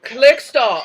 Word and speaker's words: Klerksdorp: I think I'm pronouncing that correctly. Is that right? Klerksdorp? Let's stop, yes. Klerksdorp.